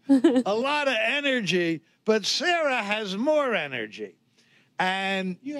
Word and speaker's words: Sarah: I want you to meet Sarah. S-A-R-A-H. And you better pronounce the H when you say it.